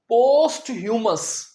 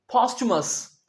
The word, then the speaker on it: posthumous: जी, बहुत से स्टूडेंट्स इसे प्रोनाउंस करते हैं पोस्ट ह्यूमस, जो कि बिल्कुल गलत है। अब आपने याद रखना है, इस वर्ड में हम टी की आवाज नहीं निकालेंगे, पोस्ट नहीं बोलेंगे, पोस्ट ह्यूमस नहीं बोलेंगे। इसमें असल में हम च की आवाज निकालेंगे। तो सही उच्चारण है पोस्टमस, पोस्टमस।